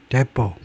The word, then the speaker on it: depots: 다수의 oil depots, 오일 저장소, 데포. 이때 트 발음을 하지 않습니다.